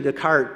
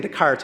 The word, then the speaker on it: Descartes: I was saying Descartes, and he kind of reminded me, it's like saying Illinois, and I forget, these are French words, and you don't pronounce those.